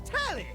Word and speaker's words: Telly: The name's Telly. Rhymes with Nelly. Like, whoa, Nelly!